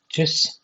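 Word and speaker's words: Tschüss: এটাকে বলা হচ্ছে উচ্চারণটা হচ্ছে চুস।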